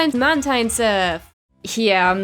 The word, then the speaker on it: Mantine: I refuse to call this thing Mantine as well. I know that one of the root words for its name is marine, which is where the pronunciation comes from, but I always thought that it was derived from the words manta and brine, so that pronunciation stuck and I can't unstick it.